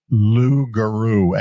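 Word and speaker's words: Loogaroo: And um the name of the apparel is Lugaru and that's spelled L O O O G A R O O.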